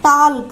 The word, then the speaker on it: talk: Here it is not talk. Here L is silent.